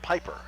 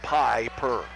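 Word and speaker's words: Pieper: Near side for Piper, who spells his name P-I-E-P-E-R, but it's pronounced Piper. So it's like Piper. Campbell looking inside, nothing there. Now to Piper.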